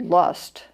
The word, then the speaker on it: Lust: They're about, the Germans have a wonderful word, which is spelled like our word lust, but it's pronounced Lust or something close to that.